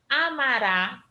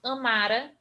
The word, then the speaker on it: amará: desinência ra ou ré tônica tônica isso quer dizer que ele vai ser a sílaba mais forte dessa palavra amará correrá partirá porque eu tenho a formação dele Amara que eu se eu Amara correra e partira aqui eu não tenho essa formação porque eu vou ter a sílaba tônica colocada no final no futuro do pretérito